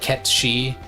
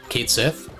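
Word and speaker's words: Cait Sith: it's spelled which is which is supposed to be some kind of Gaelic thing that's pronounced like KET shei so in Japanese it's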